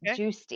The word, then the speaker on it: Giusti: i can't see um it's uh g-i-u-s-t-i and it's juicy you pronounce it juicy and i just interviewed